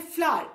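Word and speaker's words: flour: ओ यू आर, फ्लावर, इसको बेटा फ्लावर ही बोलना, जो फूल वाला फ्लावर होता है ना उसका और इसका pronunciation is same, so एफ एल ओ यू आर इज फ्लावर, फ्लावर is made up of wheat.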